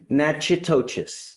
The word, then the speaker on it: Natchitoches: I butchered the pronunciation, but. Natchitoches.